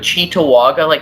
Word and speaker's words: Cheektowaga: Yeah, how do you say that, Cheektowaga? Cheetah Vegas, we call it, but Cheektowaga, that's literally an Indian tribe name.